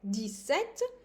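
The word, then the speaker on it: dix-sept: 17 to 19 it's too easy we have Des set in here I'm not pronouncing the S as you can hear d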